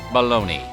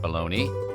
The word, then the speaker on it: Bologna: In Italy, Bologna, not pronounced Baloney, is primarily a city, not a cold cut.